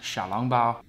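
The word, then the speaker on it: 小笼包: Not to flex on anyone, but I took Chinese for a long time, so in Mandarin, these are pronounced xiaolongbao.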